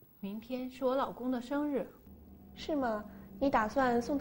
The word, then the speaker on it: 生日: Mingtian shi wo laogong de shengri.